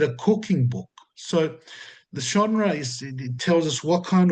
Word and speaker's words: genre: And number two is the genre of John. The When I first studied theology, I pronounced it genre. I think, yeah, but it's genre. It is a French word, the genre.